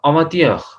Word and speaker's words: avant-hier: Okay, so avant-hier, avant-hier, avant-hier मिला के पढ़ेंगे इन दोनों वर्ड्स